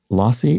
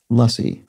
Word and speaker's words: lassi: indian yogurt-based drink and rahul says lassi would be better pronounced with an a sound uh sound so lassie would be closer to correct so thank you for